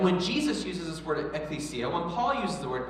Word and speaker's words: ecclesia: Ecclesia. There's a few different ways to pronounce it. We're just going to say ecclesia, all right?